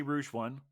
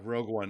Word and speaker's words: Rogue One: I uh I did not see Rouge one uh or however it's pronounced um but I understand it's a it's a prequel to Rouge one is that right yeah Rogue one yeah you can uh